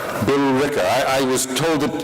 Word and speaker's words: Billerica: do you pronounce it, Billerica? Billerica. Billerica. I was told that it does not pronounce the way I've seen it written on maps.